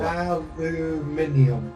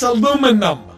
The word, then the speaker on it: aluminum: Aluminium. It's aluminum. There's no Aluminium. I. There's no I in it.